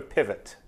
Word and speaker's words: pivot: What's the French word for pivot? Pivot? Same. How do you pronounce it? Pivot. Okay, so You don't say the T.